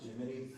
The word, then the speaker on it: Gemini: Is it pronounced Jiminy?